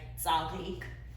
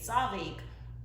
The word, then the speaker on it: ծ: So the letter z is now pronounced like the voiced version, z. And the voiced has moved on to t. So if an Eastern Armenian speaker would say tzarik, a standard Western Armenian speaker would pronounce that z as a z. If an Eastern Armenian speaker would say dzuk, a Western Armenian speaker would say tsuk.